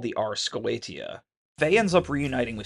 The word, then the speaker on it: Goetia: Gaetia is meant to be spelled G-O-E-T-I-A, pronounced Goetia, and is a synonym for black magic derived from a Greek term meaning sorcerer.